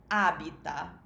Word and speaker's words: abita: a be Todd is a bita and it has the stress on the first syllable Abita so in the third-person